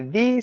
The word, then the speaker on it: the: this word correctly because the pronunciation of the word t h is completely dependent upon the beginning of the next word so that means you